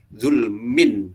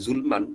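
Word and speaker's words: ظلم: Zulmin, dibacanya min bukan zulman atau zulmun, jadi zulmin karena ada bi di sini.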